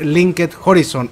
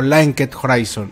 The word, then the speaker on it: Linked Horizon: a ser interpretado por linked Horizon o linket Horizon nuevamente repito como le quieran decir ahí están las dos pronunciaciones como le quieran decir